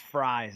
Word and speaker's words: Fries: Kelly and particularly Will Freeze, but uh uh you know, those those the the depth there um may be something that they're a little bit conscientious of. Oh, it's pronounced fries as an offline.